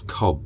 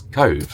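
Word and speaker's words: Cobh: a place called Cove but everybody says it's cob but we just Googled online and they say it's called the pronunciation is Cove so uh anyway I'm sure they'll tell us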